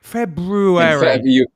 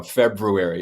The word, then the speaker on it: February: February. You took my arrow. February.